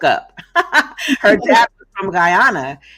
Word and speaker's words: Guyana: her dad was from Guyana and or Gana I'm not sure how to pronounce I think it's Guyana and her friend she said